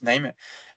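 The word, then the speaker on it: KNIME: outil donc l'outil s'appelle nime donc c'est k n i m e mais on prononce name euh c'est un util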